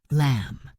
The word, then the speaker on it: lamb: Write silent w lamb silent b.